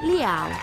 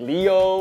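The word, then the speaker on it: Lio: Just like people always say like they're like Leo or Liao. It's L-I-O, it's Liao. It's like how it's spelled.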